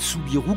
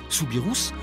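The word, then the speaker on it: Soubirous: son cercueil de verre Bernadette souirou qu'on devrait prononcer souirous devenu Sainte Bernadette en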